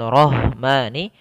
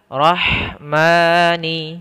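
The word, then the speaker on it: رحمٰن: Fi khalqir rahmani, ya, lafal ha haluskan sedikit. Roh bukan dibaca dengan rohmani, tapi dia ha kita keluarkan dari tengah tenggorokan kita, maka rahmani, ya, rahmani.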